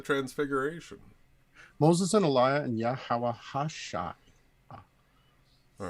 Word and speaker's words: Yahawashi: Moses and Elijah and Yahawashi. All right, so you had Moses. No, I said it wrong. Yahawashi is the true correct pronunciation.